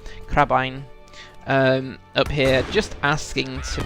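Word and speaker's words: crebain: a good number of crabbin like crab crab ein I think you pronounce them like Doudna dine crab ein up here just asking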